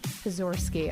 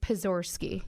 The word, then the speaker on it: Pozorski: how do you say your last name porori pizor ski okay I can never figure it out and I'm like PA like pizor ski yeah okay got it well welcome pozorski